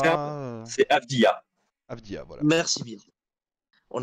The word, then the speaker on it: Avdija: Avdia ou Avdira, comment ça se prononce du Je coup? sais pas, moi j'ai entendu Comme c'est Avdira. simple, c'est Avdia.